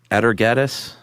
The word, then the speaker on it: Atargatis: There was one in 1000 BCE in Syria, and her name, how would you pronounce that? Atargatis? Oh, I think you nailed it.